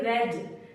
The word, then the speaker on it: wedge: जी से पहले अगर डी आए तो हमेशा साइलेंट होता है। जैसे एज, EDGE, एज। EDGE, एज। जैसे हैज, HEDGE, हैज। HEDGE, हैज। जैसे वेज, WEDGE, वेज।